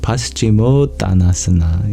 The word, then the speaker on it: Paschimottanasana: The first is the Paschimottanasana. Is that how I pronounce it? Paschimottanasana.